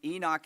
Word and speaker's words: Enoch: Enoch is the way that I grew up hearing it. Um, Josh tells me that in Hebrew it would be Enoch.